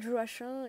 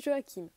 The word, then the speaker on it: Joachim: nombre d'entre vous connaissent on va l'appeler joaquin car certains appellent jo h1 je le prononce joachim joachim est un petit